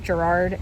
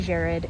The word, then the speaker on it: Jared: The way that Jared is spelled, it's usually pronounced Gerard and that's how I said it in the clip just now. It's actually Jared in an Irish pronunciation.